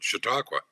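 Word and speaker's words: Chautauqua: the sort of laid out the written the pronunciation you nailed it shiaka hey now look I don't think I can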